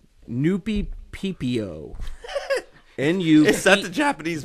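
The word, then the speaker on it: Nuppeppo: Noopy PPO. N-U-P-P-O. Is that the Japanese version of 3CPO? It is spelled N-U-P-P-E-P-P-O. Oh, my God. It's Noopy-P-P-O. Like Japanese Mississippi.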